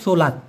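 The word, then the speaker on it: solat: কিন্তু মুসলমানদের জন্য সেটা সাধারণত সোলাত। এসও এল এটি উচ্চারণ হবে সলাত।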